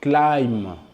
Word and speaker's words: climb: B is silent after M.